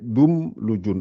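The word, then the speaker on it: دملج: Le A, on l'enlève. C'est juste le M qu'il faut retenir. C'est un M, quoi. Il faut retenir que ça, c'est un M. Donc, ça fait Doum Lujun.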